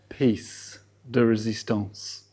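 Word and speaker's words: pièce de résistance: How do you pronounce it, Steph? Piece de résistance.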